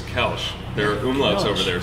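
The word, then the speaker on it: Kölsch: So when we opened up, we were just calling it Kolsch. And we had some old German dudes come in, and they scolded us. So the correct pronunciation is Kelch.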